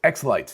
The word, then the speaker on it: xLights: light wait is it x lighter x lights x lights yes so anyway that's a like a christmas